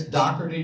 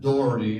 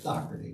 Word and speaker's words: Dougherty: All right, it's Dougherty, not Doherty, because we had this discussion.